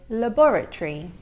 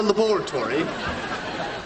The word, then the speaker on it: laboratory: Now, in English, we would say laboratory, but he has pronounced every single syllable of the word, which natives do not actually do.